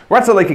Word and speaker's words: Ratalaika: I keep pronouncing that with a J in there somewhere because I keep misconstruing it, but yes, Ratalaika Games.